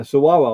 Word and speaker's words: Saguaro: Yeah, Saguaro. Or both of us to teach. And Sue taught me how to spell it last night because I guaranteed would have spelled it wrong.